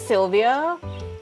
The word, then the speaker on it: Sylvia: Like it's Sylvia, you know. It's still like the full version is Sylvia, but people have different